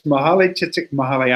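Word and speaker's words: Mihaly Csikszentmihalyi: Did you just try to pronounce his name? Because I can never do that. Yeah, it's Mahalay Csikszentmihalyi.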